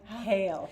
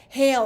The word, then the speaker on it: Haehl: CA how do you say your last name hail hail okay but it's spelled kind of uniquely it's kind of funky